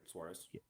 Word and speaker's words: Suarez: Yeah, you said it right, Suarez.